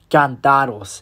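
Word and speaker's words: cántaros: It's pronounced cantados, and if you wonder how to spell it, it's spelled C-A with and the A has an accent mark. Not too sure if you can see that, but it's backwards. Cantaros.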